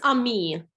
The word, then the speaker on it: Amy: And the example that actually I just gave, Amy, is that the right way to say your name? It's Ami. Ami.